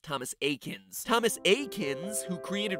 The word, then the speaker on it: Thomas Eakins: pokemon reference there because his name is pronounced thomas akins thomas a kins who